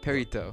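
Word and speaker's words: perrito: Perito. Oh, I thought Benito like Mussolini. No, No, it's Perito. Perito, like, Oh. it's pronounced that way in Spanish.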